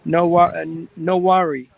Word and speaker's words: Nwaneri: Ethan, how do you pronounce his name? Nwaneri.